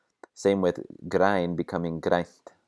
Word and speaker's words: grænt: Same with græn becoming grænt. We get a voiceless N before the T, so watch out for that.